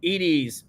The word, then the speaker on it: Edie: Oh, and look, we've been pronouncing Edie's name wrong. It's not Eddie, it's Ed. Edie. That makes sense.